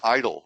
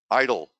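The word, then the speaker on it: EIDL: disaster loan which is abbreviated everywhere is Eid el and they pronounce it as idle which the irony of that is not lost on me but idle there it is okay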